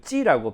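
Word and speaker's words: 指: 우리는 지라고 하지만 중국은 이걸 찌라고 발음을 하는데요.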